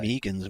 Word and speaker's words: Megan: Megan's more of an American pronunciation of it. Megan? Rhymes with vegan.